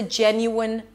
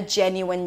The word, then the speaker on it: genuine: The primary stress is on the first syllable, so it's higher in pitch and longer. Jen, you won. That was a genuine gesture. A genuine gesture.